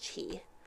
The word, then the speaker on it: ki: To counter them, Master Keku assembled a team of 5 youths with high level of ki. They became the Dairangers of the present times. It also could be pronounced chi.